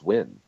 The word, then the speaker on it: Nguyen: is that supposed to be like Win, like Nguyen? We'll give it a That's double not how- entendre pass because it was No, positive. that's how you. Is that- That's how you pronounce the name is Win.